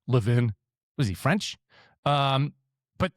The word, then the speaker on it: Levin: You got Ben Shapiro, Mark Lean, Levvin. I mean, I always pronounced his name wrong. Levin, was he French?